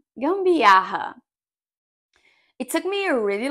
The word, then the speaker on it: gambiarra: We have a G sound, then we have an M sound, then we have the double R when we have to use our throat.